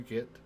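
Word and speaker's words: げ: You pronounce it as ge, as in geth. Except, not Mass Effect.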